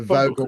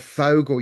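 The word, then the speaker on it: Vogel: But I've got here a um a Vogal crystal. I just wanted of Fogle. You said it's pronounced Fogle.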